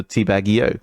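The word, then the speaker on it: Teabag90: 90, I think like the 9 is supposed to be pronounced as an E, really, because of like leet speech and whatnot. So teabag EO, right?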